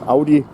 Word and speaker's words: Audi: And keep in mind Audi rowdy. So that's how you know how it's pronounced in German.